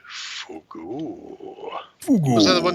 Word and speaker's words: fugu: It's pronounced Fugu.